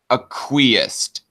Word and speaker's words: acquiesced: Red Feather is telling me of how this this word is pronounced. Acquiesced.